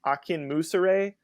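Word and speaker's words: Akinmusire: pronounce his last name I think it's like Akin Musa Ray ak-i-n-m-u-s-i-r-e and his albums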